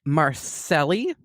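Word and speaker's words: Marseille: tell from a photograph of some graffiti in Marcelli not sure if I'm pronouncing that right but it's a m-a-r-s-e-i-l-l-e and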